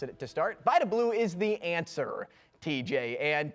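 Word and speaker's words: Vida Blue: It's Vitablau. Is that how you pronounce it? Vablau. Yep. Vablau. And I mispronounced it to start. Vablau is the answer, TJ.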